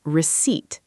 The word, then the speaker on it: receipt: Notice the spelling has a silent P. We pronounce it receipt.